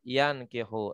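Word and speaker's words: يَنْكِحُ: Jadi la yankihu. Nah, di sini nih dikasih keterangan biar kita membacanya yan bukan yun gitu ya.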